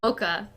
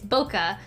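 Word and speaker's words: bokeh: they're called and I went they're called a Boca b-o-k-a I'm pretty sure I thought it was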